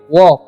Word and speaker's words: walk: Okay, WORK तो इसे पढ़ेंगे वर्क, WALK तो इसे हम पढ़ेंगे वॉक। ठीक है, वॉल्क नहीं पढ़ना है, एल साइलेंट।